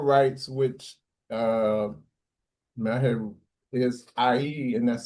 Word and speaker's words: ayie: Well, the funeral rites, which I had, is IE, and that's spelled AYIE, and that's really it's a it's